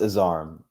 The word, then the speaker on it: Azarm: It's not hard. It's Azarm.